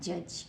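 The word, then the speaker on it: judge: हम आपको बताएंगे कि यदि जी के बाद ई आ जाए जी के बाद ई आ जाए तो हम उस जी को भी जैसे पढ़ते हैं तो जे यू डी जी ई क्या बन गया जज क्या बन गया जज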